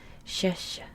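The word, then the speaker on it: šeši: my favorite one so remember this letter makes an sh sound sha so this is shesha that's so fun to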